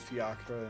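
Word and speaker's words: fiacre: Oh, fiakra in British English.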